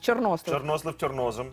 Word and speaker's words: чорнослив: я чорнослив До речі правильний наголос мій тато казав правильний наголос в чорнослив так і я завжди Я